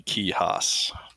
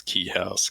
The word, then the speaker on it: Kuehhas: So the proper pronunciation is actually Kuehhas. I always tell people it's Kuehhas because that's just easier.